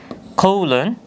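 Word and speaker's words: colon: কৌলন, কৌলন, যার অর্থ হচ্ছে কোলন। আমরা সাধারণভাবেও কিন্তু এটার ইংরেজি উচ্চারণও কোলন বলে থাকি।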